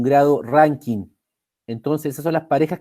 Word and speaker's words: Rankine: Hay una 4ª escala, chiquillos, que se llama Rankine, tal cual como se pronuncia, Rankine, pero no está tan utilizada.